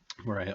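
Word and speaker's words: Moriya: So I would ask you to pronounce this. Well, Zeloshinsky-Moria interaction. Zeloshinsky-Moria interaction. Zeloshinsky is a Russian last name. Moria, I think, is a Japanese guy.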